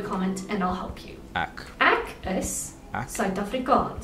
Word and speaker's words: ek: time I read that, I read from an English standpoint, I read ek, so ak, okay. Say specifically where you're from, please leave a comment and I'll help you. Ak.